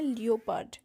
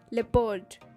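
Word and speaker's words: leopard: इसे बहुत सारे स्टूडेंट्स गलत प्रोनाउंस करते हैं, वो कहते हैं लियोपार्ड। नहीं, इसकी प्रोनाउंसिएशन है लेपर्ड, लेपर्ड। इसमें R का साउंड बहुत कम आता है, तो इसको कहेंगे लेपर्ड।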